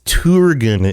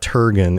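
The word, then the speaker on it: Turgon: mispronounced continuously, like it's Turgan, isn't it? It's not Turgan. It's Turgan because the U is like the U in Turin.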